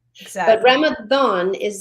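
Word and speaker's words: Ramadan: But Ramathon is its pronunciation. Just it's spelled with a D because it's Arabic.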